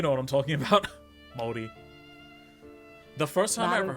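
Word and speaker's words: Māori: And I commented being like, it's pronounced Maori, there's no Y in it, it's 2 syllables, why would you say it like that?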